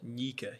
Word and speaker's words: Nyika: David Nyika. Did I get your last name right? Yeah, Nyika, like sneaker.